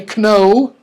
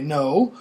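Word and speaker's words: know: Ganahl on a chicken leg okay we don't pronounce this thing is our key knee and we don't say Cano we say no so all those K ins geon's things like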